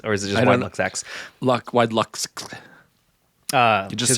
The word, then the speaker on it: WideluxX: Do you pronounce two X's, or is it just WideluxX? WideluxX.